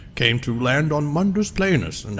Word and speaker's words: Mundus Planus: it's pronounced Mundus Planus, actually.